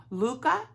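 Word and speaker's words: Lykke: I was gifted one from, well, I actually won it with my, oh shoot, Granny D said I was pronouncing it wrong. Luca, she calls them Luca, but I likey my likeys, L-Y-K-K-E.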